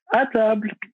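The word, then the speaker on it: À table: brand is atab metro so there's a little accent on the a so it's like attab so it's something that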